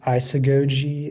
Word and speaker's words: isagogy: hi your word is isagogy I still go to am I saying that correct sounds fun may happen but the word is isagogy it's a noun and it's Latin from Greek